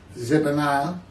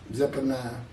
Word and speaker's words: Zephaniah: Zephaniah, Zephaniah, I'm not sure how to say it. Zephaniah.